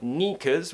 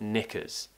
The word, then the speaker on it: knickers: to say nika's again a very common mistake is when my students pronounce that it sound as an e and they'll say eat instead of it for example so we don't want knickers we want knickers so the problem is